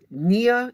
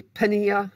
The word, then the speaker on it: pnea: beginning of the semester Nia is how this is pronounced although I like to say penny Nia because it has the P there of course the P may or may not be pronounced depending on the word as in tachypnea that's